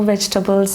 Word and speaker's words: vegetables: We will cut all the raw vegetables and put it in a what is that?